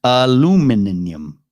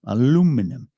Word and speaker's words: aluminum: it's all good though i pronounce aluminum properly though aluminium aluminum uh yes i speak american uh but it's just